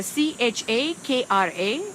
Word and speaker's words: chakra: and that system is the seventh chakra chakra CH a KRA that's how it's pronounced chakra is an Indian word that literally